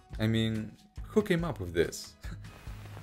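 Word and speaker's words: μι: case that it makes me mad yeah that's my fun fact mu pronounced me in modern greek actually came from the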